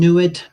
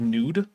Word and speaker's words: nwd: In the Egyptian, nuid, an aromatic ointment. Nah. See, you missed an opportunity to pronounce that word nude, which is actually a more likely Egyptological pronunciation for NWD.